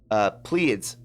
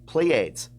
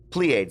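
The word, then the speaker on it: Pleiades: the star constellation is also known as the pleads plea AIDS plea AIDS that's how it's pronounced which all which holds seven stars and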